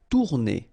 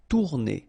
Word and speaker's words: tourner: Tourner. Same thing here, if you listen carefully, tourner. R is not that strong.